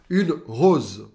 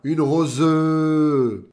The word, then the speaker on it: rose: por exemplo uma rosa Rose eu não falo Rose Repara bem tá olha segundo padrão para você vou repetir para vocês tá um e no final de uma palavrinha não costuma ser pronunciada bem de leve Rose